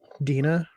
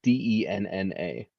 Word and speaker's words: Denna: I don't know how you're not pronouncing it correctly though, because it's Denna.